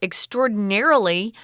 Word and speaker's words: extraordinarily: I don't extraordinaire extraordinarily so the strong syllable is gonna be on NER so extraordinarily dense book